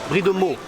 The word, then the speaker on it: Brie de Meaux: Brie de Meaux.